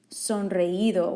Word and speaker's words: sonreído: You should have written down sonreído with an accent on the I again.